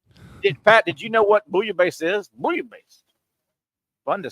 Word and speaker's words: bouillabaisse: And I had to ask, what the hell is bouillabaisse?